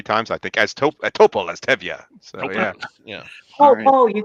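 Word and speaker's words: Topol: and everything it just toppled t-o-p-o-l that guy who played it was just his name topo and i'm like or paul i i'm probably pronouncing it wrong no but it is it is topple i'm like okay that's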